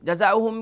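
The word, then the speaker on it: جزاؤهم: جزاؤہم کی ہجے کر لیتے ہیں. پہلا حرف جیم ہے, جیم پر زبر یعنی فتحہ کی علامت موجود ہے, تو اس کی ہجے اس طریقے سے ہوگی جیم زبر جا, ز الف زبر ز, جزا حمزہ پیش او, جزا او.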